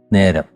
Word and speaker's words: നേരം: നേരം എന്നുള്ളത് നേരം ഒന്ന് പറഞ്ഞാൽ നേരം നേരം നേരം എന്നേ ഉള്ളൂ, നേ വേണ്ട, നേരമല്ല നേരം.